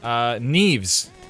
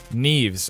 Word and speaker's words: Neves: Neve? Like Neve, but with an S. Is it a voiced S? Neves or Neves? So good. Neves. I'm going with Neves. Like Keanu? Like rhymes with Keanu?